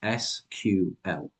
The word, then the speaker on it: SQL: There is a word on this screen, or it's an acronym actually, it's SQL. And if you don't know how to pronounce SQL properly and you mispronounce it in a job interview, probably not the best thing.